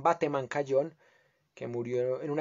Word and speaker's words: Bateman: y jaime bateman cayón que le dicen weithman por pronunciar en inglés pero acá en colombia le llamaban bateman cayón que murió en